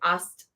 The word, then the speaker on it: Aset: But the other day, a sister mentioned that the classical pronunciation of Isis or Aset is actually more like Ast, A-S-T, as opposed to A-S-E-T.